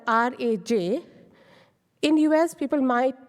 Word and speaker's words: Raj: pronounce that Raj or rage but as I told earlier that in a we can say ah we have to give a stretched out version so the correct pronunciation is Raj if you can see